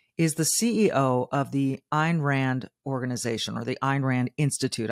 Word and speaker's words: Ayn Rand: the CEO of the Ein Rand organization or the Iran Institute I should say which maybe some of you have read Ein Rand her name is spelled Ayn and Rand she wrote The Fountainhead